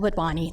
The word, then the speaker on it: Wadhwani: I'm Wadwani. That's how you say it.